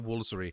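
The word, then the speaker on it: Woolfardisworthy: just going to call Woolery." You have to change the name, change the spelling of these things to Chamli, uh, Funshaw, and Wooler.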